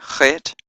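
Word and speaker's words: ח: as a zip sound the eighth letter fit as a first and as in lock or buff we don't have that sound in English but we do have it in Scottish or Dutch sound or German and the night ninth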